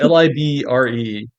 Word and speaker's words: LibreOffice: it's Yeah, Libra. Libre. LibreOffice? Libre. It's Libre.